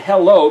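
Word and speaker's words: הלוא: Hello, and I say the word hello because it's Hey Lamed Vav Aleph, which is pronounced hello, and it's simply translated, is it not?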